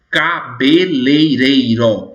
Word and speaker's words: cabeleireiro: Ela está errada, porque a palavra se escreve cabeleireiro. Então, você vai perceber dois ditongos. Nós temos esse costume de engolir uma semivogal.